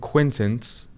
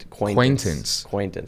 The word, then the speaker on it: Quaintance: We have Jaden Quintance. I believe that's how you say his name. It's Quaintance.